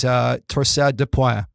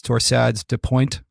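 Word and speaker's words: torsades de pointes: be aware of is torsade de pointe. That's how we say it in Canada. As they say in the US, torsades de pointe, I think it is.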